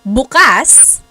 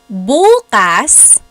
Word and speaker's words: bukas: syllable that means open buas means tomorrow so when the emphasis is on the first syllable it's tomorrow very interesting yep they